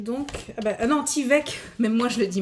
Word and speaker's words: Tyvek: Donc, des grandes enveloppes comme ça, et ça s'écrit donc. Ah ben, non, Tyvek, même moi je le dis mal.